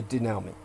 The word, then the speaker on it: denouement: That's denouement. Most of you would never have anyone give you the denouement of Fight Club, because most people are incapable. Denouement, by the way, is spelled, I'm asked how it's spelled now from